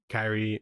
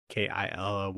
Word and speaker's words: Killy: And because like, I guess like the story of Kyrii or his name's like Kyrii in the movie for some reason. I thought I was just pronouncing it wrong. Yeah. But it's actually like Killy or whatever.